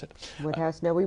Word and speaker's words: Wodehouse: Woodhouse's, or Wodehouse, the Americans pronounce it. Woodhouse?